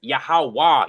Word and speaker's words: Yahawah: the thorough eye nowhere it's a wah it's yahawah you don't get an o sound from a walk yeah a yod a